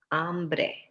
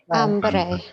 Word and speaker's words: hambre: Hambre. Hambre. Hambre. I'm going to highlight two things. Here is Mr. Trump's mistake. Hombre. Hombre is hombre, but hambre is hambre. They are very different words.